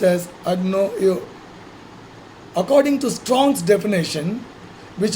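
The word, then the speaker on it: ἀγνοέω: The English word ignorant derives from the Greek word agnoio, and it's pronounced as agnoio.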